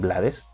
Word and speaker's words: Blades: y se llama rubén blades de hecho se pronuncia blade realmente es rubén blades